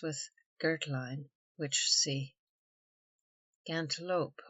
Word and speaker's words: gantlope: Gantlope or gauntlope, commonly pronounced gantlet.